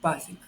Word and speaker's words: página: Lo mismo pasa con página. Cayó el acento en esdrújula.